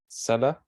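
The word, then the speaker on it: Celler: of Republican or representative Emmanuel seller that's how you say his name the powerful chairman of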